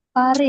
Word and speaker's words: Pare: Teman-teman, ini tuh kita bacanya Pare gitu ya.